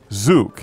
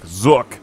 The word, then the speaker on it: Zook: looks kind of weird zuk and his name is odd too because if you say it wrong like zook it sounds like a tablet that you could use for reading I'm enjoying Harry Potter